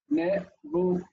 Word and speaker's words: Nebuchadnezzar: So the book, our lovely textbook, divides the name Nebuchadnezzar, should have an accent on there, I'm sorry, in the following way. Nebuchadnezzar. Notice that the dagesh in the tzadi means that the letter is doubled.